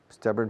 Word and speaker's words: stubborn: La pronunciación, stubborn, stubborn. Se acentúa la primera sílaba y se alarga un poco.